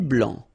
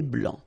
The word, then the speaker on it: blanc: Un thé blanc. Final C not pronounced. Un thé blanc.